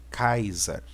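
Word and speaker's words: Καῖσαρ: olhar aqui nós temos o capa o alfa e ota Sigma o alfa e o hall né que vai dar a pronúncia de kaisa né ou seja o César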